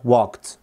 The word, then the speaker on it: walked: طيب لو اتكلمنا في طريقة النطق هنلاقي عند كلمة walked in الاي دي هنا نطقت تي. طب ليه بقى؟ دايما كده لما تلاقي الاي دي قبلها صوت الك، بالتالي الاي دي سوف تنطق تي، ودي طبعا هنشرحها بالتفصيل في كورس صوتيات. ولكن دلوقتي انا عايزك تعرف انه لما تلاقي الاي دي قبلها صوت الك فبالتالي هتبقى walked.